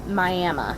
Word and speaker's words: Miami: if you're from the area everyone knows it's pronounced miami miami because that's the indian name yes that's